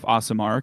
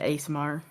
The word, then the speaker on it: Aasimar: the Aasimar feats, whereas a dwarf Aasimar can take from the dwarf and maybe it's Aasimar. I'm saying it wrong. I've been saying it wrong this whole time. I think I've always said it ASMR, Yeah, I do think it which is just